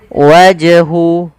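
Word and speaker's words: وَجْهُ: Ini juga termasuk dari bacaan qalqalah yang mana qalqalah artinya dia memantul. Harus dipantulkan. Waj wajhu. Wajhu. Sama kesalahannya tidak boleh apa? Yang pertama tidak mantul itu kesalahan. Wajhu. Yang kedua menambahkan hamzah. Wajhu. Wajhu. Ah ini nambah.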